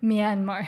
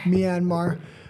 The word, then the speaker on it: Myanmar: in Manar mymar how do you say it Myanmar Myanmar uh it's near Thailand um 100,000 people are